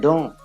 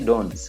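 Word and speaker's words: dans: Then we have another preposition, don. It is in. We don't say dons. We say don. We don't pronounce the S.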